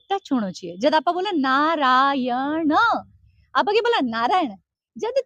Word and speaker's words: नारायण: जब आप बोला नारायण, आप आगे बोला नारायण। जब थे सही प्रोनाउंस को नहीं करो तो भगवान आसी खटो, प्रोनाउंसिएशन तो करेक्ट होना चाहिए। तो जब भी आप बोले नारायण, न तालु पे टच होता है।